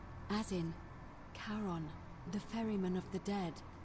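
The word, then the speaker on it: Charon: It's just as you described it, only your pronunciation is a little off. The name you heard Kon. It was C H A R O N. As in Karon, the fairyman of the dead.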